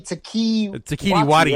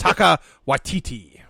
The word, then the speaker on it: Taika Waititi: Taika Waititi is how you say his name. I was saying it wrong for so many years. You were saying Taiki Wati, right? yes. It's Taika Waititi.